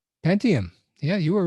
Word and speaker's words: Pentium: Um, Arduino Uno or Intel preentium. Oh, sorry, I don't know how to pronounce it. Pentium.